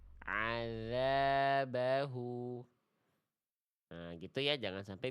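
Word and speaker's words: عذابه: Karena lihat aja makhrajnya nih. Azza mana makhraj huruf dalalnya? Azza azzabahu salah ya. Harusnya ujung lidah bertemu dengan ujung gigi sari atas. Adaza adzabahu.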